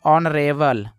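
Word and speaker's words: honourable: कुछ लोग हानेस्ट पढ़ते हैं, तो हानेस्ट नहीं पढ़ना है, यहाँ पे एच साइलेंट है तो इसको ऑनेस्ट पढ़ते हैं। इसको पढ़ते हैं दोस्तों ऑनरेबल, ऑनरेबल।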